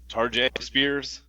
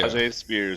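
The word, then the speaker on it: Tyjae Spears: Tarjay Spears. Oh yeah, Tajay Spears, I think. Yeah. Tajay Spears.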